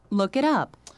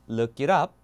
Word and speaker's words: look it up: 그것을 찾아보다 찾아보는 뜻이죠 그래서 미국 영어로는 저 발음을 다시 한번 리처럼 약간 약화시킨 다음에 영국은 어떻게요 그대로 갑니다 아 하다고 볼 수 있어요 자 미국 바음 먼저 들어보시면 look it up 이게 맞죠 look it up 영국은 look it up